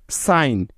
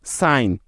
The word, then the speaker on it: sign: এন এর আগে জি থাকলে ওই জিটার উচ্চারণ হয় না, অর্থাৎ সাইলেন্ট থাকে। যেমন সাইন, SIGN, সাইন।